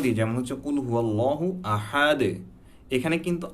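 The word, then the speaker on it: أحد: হুয়াল্লাহু আহাদ, আহাদ বলি, কিন্তু এটার সঠিক উচ্চারণ যখন আমি কলকলা সহ পড়ব, কুল হুয়াল্লাহু আহাদে, আহাদে, দালের যে এখানে দালে যদি আমরা দেখি তাহলে এখানে কি আছে, দালের উপর দুইটা পেশ আছে।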